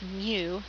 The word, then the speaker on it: mu: of a population uh we pronounce this Greek letter as Mu so it looks like